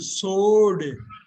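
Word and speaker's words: sword: இங்க என்ன சைலெண்ட்டா இருக்கலாம் டபள்யூ டபள்யூ சோடு சோடு எப்படி படிப்பீங்க சோடு சோடு சோடு ரைட் இப்ப பாருங்க நிறைய ஹாலிவுட்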